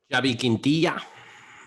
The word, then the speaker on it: Xavi Quintilla: Hodge, do you want to go for the full Spanish pronunciation? Xavi Quintilla.